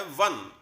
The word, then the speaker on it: one: और वो इसीलिए आया क्योंकि ये जो वर्ड है वन, इसमें हमारा जो पहला लेटर है वो ओ है, लेकिन वो ओ साउंड दे रहा है व की, और व एक व्यंजन